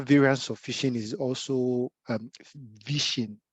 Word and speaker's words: vishing: Other variants of phishing is also vishing. So a different pronunciation from PHI. So this is VI.